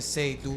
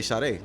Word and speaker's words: Sade: uh with the tag with your tag name being say do do sometimes people have problems mispronouncing it do you get that a lot not a lot but it's happened before okay what what is something they say outside that they'll say shade because when when they